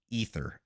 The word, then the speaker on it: Aether: to pronounce that correctly I grew up pronouncing it ather because I read it and I didn't hear it it's ether okay ether is Immortal